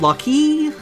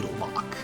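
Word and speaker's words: Locke: past say hello to lock I've heard it pronounced luy Lu a few other interesting pronunciations but I'm pretty sure it's just meant to be lock I prefer the term treasure hunting huh semantic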